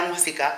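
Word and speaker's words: música: la musica de la musica accent on the U We always forget our accents, okay? A traves a traves de la musica I love that.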